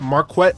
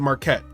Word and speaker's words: Marquette: his name is mispronounced it's pronounced marquet Devon Burton but often people pronounce it Marquette any well adjusted person